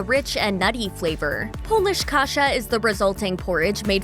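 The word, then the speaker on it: kasza: The Polish version of kasha is kasha, which is pronounced the same but spelled with a Z instead of an H.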